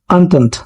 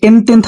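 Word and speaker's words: Entente: হয় triple অন্তন্ত, triple অন্তন্ত। ঠিক আছে, এটা তুমি যেভাবে আমি লিখবো এটা, সেটা যদি উচ্চারণ করে সেভাবে এনতেন্থ হবে, ঠিক আছে, বাট এটা উচ্চারণ কি ট্রিপল অন্তন্ত, ঠিক আছে, এরকম একটা উচ্চারণ হয়।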